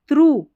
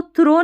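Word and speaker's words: through: परसिवेंस लगातार प्रयास करना थ्रू देखिए इसको थ्रो नहीं पढ़ना है टी एच आर ओ यू जी एच को हम पढ़ते हैं थ्रू याद रखें अगर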